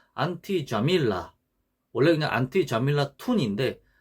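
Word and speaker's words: جميلة: 뭐 예를 들어 뭐 안티 자밀라, 원래 그냥 안티 자밀라 툰인데 안티 자밀라라고 이렇게 너 예쁘다 이런 식으로 발음을 합니다.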